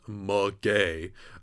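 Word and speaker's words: maguey: of queer podcast that it sounds like you're just saying gay um anyway um so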